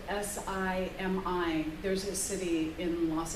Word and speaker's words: Simi: It's spelled S-I-M-I.